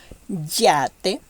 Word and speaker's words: yate: Don't pronounce it like you will pronounce yellow or yawn. It's strong. Yate, yegua.